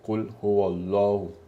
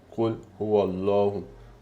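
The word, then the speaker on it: قُلْ هُوَ اللَّهُ: Quindi invece qua abbiamo visto che abbiamo il Fatah, quindi rendiamo Allah, rendiamo la pronuncia forte. Quindi abbiamo Qul huwallahu, Qul huwallahu, Qul huwallahu.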